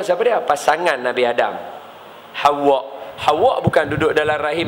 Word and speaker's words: Hawa: Ejaan dia ha wau alif hamzah. Hawa. Ha bacaan dia nama siapa? Nama Hawa. Ha kita duk sebut Hawa. Hawa. Hawa. bahawa sebutan dia Hawa. Sebutan dia macam tu.